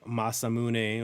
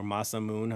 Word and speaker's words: Masamune: This is the Masamune or Masamoon, however you want to pronounce it.